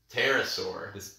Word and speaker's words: pterosaurs: Petra or Harris or pterosaurs P is silent pterosaurs are flying reptiles